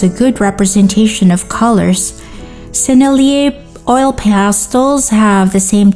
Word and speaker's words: Sennelier: Sennelier is a French name, so you pronounce the brand as Sennelier, not Sennelier. Sennelier or whatever.